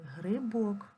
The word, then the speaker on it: грибок: слово з маленької буковки грибок грибок поставино поставимо наголос грибок наголос падає на о в цьому слові є